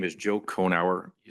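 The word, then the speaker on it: Cohenor: My name is Joe Conower. You spell that C O H E N O R.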